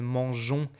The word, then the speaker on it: mangeons: Like for example, I hope you remember that manger, you remember this story, like we put this extra E to keep the pronunciation mangeons, except for this kind of super small exceptions that are not even really exceptions.